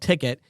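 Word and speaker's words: Tickt: It's spelled T-I-C-K-T. So it's a shortened version. It's called Ticket.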